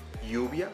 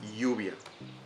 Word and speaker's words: lluvia: For example, to say lluvia, that is rain. So the sound of the two L's together is like the Y. So in this case can be, so in this case it's lluvia.